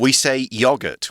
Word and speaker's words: yoghurt: We say yogurt. We make that yog kind of sound with it.